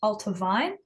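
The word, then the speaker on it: Allt-a-Bhainne: most excited about so this is pronounced ultavine the BH is a v sound um I think it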